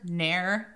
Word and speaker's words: ne'er: That first word, ne'er, it's never. He's cut out a syllable so that he can maintain iambic pentameter.